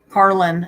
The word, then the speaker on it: Carlin: Or is it Carolyn or Carlin? Carlin.